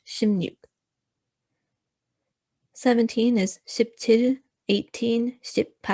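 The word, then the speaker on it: 십육: see in brackets i have put shimnut so shimnuk is actually the pronunciation but it's spelled uh the way it's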